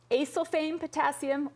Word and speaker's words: acesulfame potassium: Okay, this next one I'm also going to let you pronounce. You equipped professional. This has 2 ways. Acesulfame potassium or acesulfame potassium.